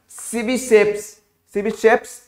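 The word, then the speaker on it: Tchebicheff: Second सीबी safe, spelling लिखो तो समझ में आएगा, TCHE, सीबी सेफ्स mechanism dear. Fourth, ये टी मत पढ़ना, सीबी सेफ्स मैकेनिज्म।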